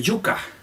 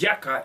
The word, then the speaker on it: yuca: But if you move to the Caribbean, the yuca, mispronounced in English, yaca, is the king.